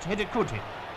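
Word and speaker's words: Hidegkuti: The scorer's name is pronounced Hidikuti, I hope.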